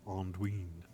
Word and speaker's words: Anduin: 24, the Vales of Anduin. By the way, it's not Anduin, nor is it Anduin. It's actually Anduin, according to a pronouncer I heard.